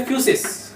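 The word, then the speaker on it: φύσις: हैं जिसको बोलते हैं जब तो इसको क्या पढ़ेंगे फ्यूस इसको पढ़ेंगे फसिस ठीक है और इस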